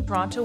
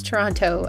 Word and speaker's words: Toronto: this within the movie Bullock says she'll go back to Toronto with pronouncing the second T I have to go unless they're thinking about the proper pronunciation people from Toronto typically pronounce Toronto as Toronto Toronto there's